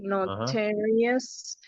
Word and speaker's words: notorious: And then the number of syllables is 4, notarious. And then which syllable is the stressed one? And it's the second syllable.